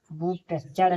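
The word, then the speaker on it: butcher: बी यू टी सी एच ई इसे बूचर पढ़ेंगे। बू चर नहीं पढ़ेंगे। इसे बूचर पढ़ेंगे। यहां टी साइलेंट है।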